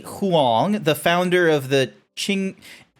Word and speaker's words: Qin: a Japanese sumo wrestler, Qin Shi Huang, the founder of the Qing... How do you say it? How's it spelled? Qin. Qin Shi Huang, from the founder of the Qin dynasty in China, Nikola Tesla, Leonidas, Soji Okita.